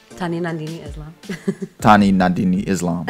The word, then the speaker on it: Tanwi Nandini Islam: Tanwi Nandini Islam.